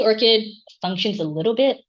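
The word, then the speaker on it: ORCID: So I'm going to start with orchid uh pronounced like the flower.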